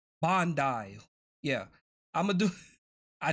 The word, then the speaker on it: Bandai: How do you pronounce them? How do you say their name? Bandai.